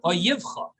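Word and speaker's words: אויביך: is the Hebrew word oivecha. Now, oivecha is spelled with 2-letter yuds, which means plural. But the way it's read it's read oyivcha.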